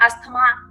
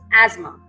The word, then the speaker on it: asthma: That is again pronounced wrongly. It's not asthma, that is asthma.